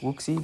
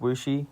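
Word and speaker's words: Wuxi: Looks like Woopsie, but it's pronounced Wooshi.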